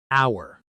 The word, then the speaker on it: hour: Bonus word three, hour. This word has a silent h. We say hour exactly like the word for belonging to us.